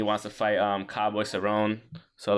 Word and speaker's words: Cerrone: Conor saying he wants to fight um cowboy Cerrone so like or ceronia the thing that's how you say his name